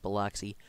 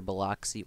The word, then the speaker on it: Biloxi: With this high energy, Jackson or Biloxi, I believe it's pronounced Biloxi, could see high growth in the future similar to Atlanta.